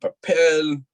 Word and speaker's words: papel: I've got fucking I got Papel.